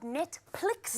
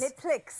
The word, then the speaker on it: Netplix: So my new show is called Netplix. Netplix. With a PH, but the H is silent.